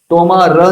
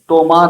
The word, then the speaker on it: তোমার: अ, वर्ण होता है तो उसको हम पूरा नहीं कहते, आधा छोड़ देते हैं। तोमार र नहीं बोलते, तोमार बोलते हैं।